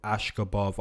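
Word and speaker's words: Askhabov: Jamal Emma's taking on Hussein ashkabov I believe is the pronunciation now guys looking at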